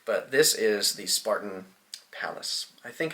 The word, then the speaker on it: Pallas: palace i think it's called palace it might be payless i feel like that's how kyle says it but that just makes me think of payless shoes um anyways i think it's palace because it's spelled p-a-l-l-a-s and uh this is spartan's